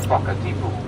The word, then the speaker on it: Whakatipu: The reason for the difference in the pronunciation is the presence of an H following the W in the Te Reo spelling, and in Te Reo Māori, the WH combination produces a pronunciation like the letter F in English.